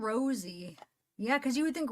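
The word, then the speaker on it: Rozzi: yeah it's pronounced R it's pronounced Rosie not Rosy I'm not going to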